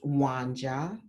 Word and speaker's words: Wanja: In fact, like my name, it's pronounced Wanja, which in my tribe, there are different tribes that have that name.